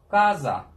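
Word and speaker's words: casa: Gaza. Mesela bakın C başta olduğu zaman ne oldu? K harfine dönüştü.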